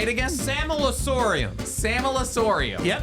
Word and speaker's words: Sammelsurium: I don't think we know how to pronounce a lot of them. Samelasorium. Wait, say it again. Samelasorium.